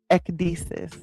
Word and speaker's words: Ecdysis: So the word is Ecdysis. Ecdysis. It is spelled Ecdysis.